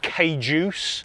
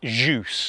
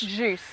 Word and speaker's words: Kjus: Uh a lot of people pronounce it wrong. Yeah. I get KJus. Yeah. I get that. Um yes, you did. I had to correct you. Um here is Jus. Jus.